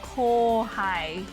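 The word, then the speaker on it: kōhai: know there's words like kohai, even though kohai is spelled like, you know, ko-u-ha-i, but when you say it, it's just kohai without, like, you don't really say the u.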